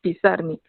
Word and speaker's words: Pizarnik: erróneamente en cualquier caso alejandra lo pronunciaba acentuando la segunda fila pisarme la pareja se instaló